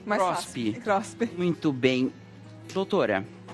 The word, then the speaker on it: CROSP: É assim que pronuncia? Sim, CROSP, mais CROSP.